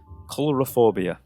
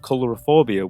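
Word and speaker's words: coulrophobia: get it wrong, but I believe it's pronounced colorophobia, and that is a word used for the irrational fear of clowns.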